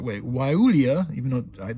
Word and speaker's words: Guayule: I'm not even going to pronounce it anymore because I just keep wanting to say the G.